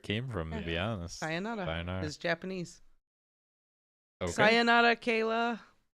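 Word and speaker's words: さようなら: Sayonara. Sayonara? Yeah. That's how you say it? Sayonara. Oh, okay. Yeah, that's goodbye in Japanese. Sayonara.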